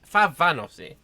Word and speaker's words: Fahanavosi: I always pronounce this wrong. Is it Fanavosi or Favanosi? Favanosi. Yeah, so this is certainly something they could try and do.